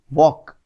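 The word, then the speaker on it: walk: आप देखो यहां पर एल में कोई साउंड नहीं है वॉक तो एल यहां पर साइलेंट है तो इसकी स्पेलिंग डब्लू ए एल के ही होगी लेकिन आप इसको बोलोगे वॉक because L is silent तो साइलेंट लेटर को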